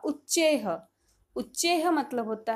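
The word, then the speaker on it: उच्चैः: उच्चारण इसका होगा उच्चेह।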